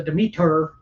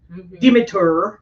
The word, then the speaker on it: Demeter: last Voyage of the Demeter Demeter depending on what language you speak the media there that's how you say it for real but it is that's how they said in the trailer join us anyway uh